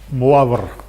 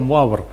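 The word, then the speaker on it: Moivre: and the name was moaber okay i i'm i'm not sure uh this is a good french pronunciation of this but well this is the best i can do so muar uh notice that uh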